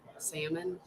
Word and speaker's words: salmon: Salmon. It's exactly how you say it. The L is silent.